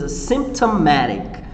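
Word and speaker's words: asymptomatic: guys a symptomatic okay the pronunciation is a symptomatic chapala is a case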